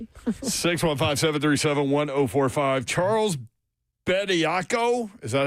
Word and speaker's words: Bediako: Charles Bediako, is that how you pronounce that, guys?